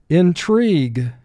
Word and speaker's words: intrigue: mark the word intrigue i is representing the long e sound here so we put an x under it to indicate it's representing a sound it normally does not row 10 epilogue epilogue